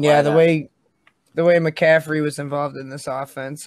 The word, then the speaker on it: McCaffrey: unfortunate news of christian mccafferty getting this high ankle sprain please say his name right mccaffrey man the unfortunate news